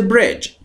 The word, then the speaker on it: bridge: Go across the bridge. Bridge میدونید یعنی پل. اون دیه وسطش هم تلفظ نمیشه.